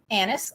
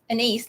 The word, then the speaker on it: anise: be using this time is Anis or anise depending on how you want to pronounce it I've always heard Anis but do it whatever